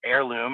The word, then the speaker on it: Heirloom: Go to Heirloom, and that's with a silent H, HEIRLOOM.cloud, because your memories are preserved on the cloud.